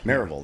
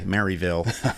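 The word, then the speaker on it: Maryville: Marville. That's got to say it right. It's East Tennessee. You can't say Mville and you can't say Marvel. Yeah, right there in the middle.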